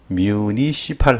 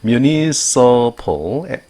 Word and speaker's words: municipal: municipal, municipal, municipal 하지 마세요. municipal입니다. municipal, 모음이 액센트를 받지 않으면 발음 납니다.